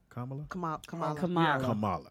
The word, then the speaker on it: Kamala: Kamala. Yeah, that's how you pronounce it.